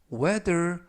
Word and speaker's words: whether: 활용 문장 보시겠어요 I don't know 나는 모른다 whether 뭐 뭐인지 어떤지 He will come 그가 올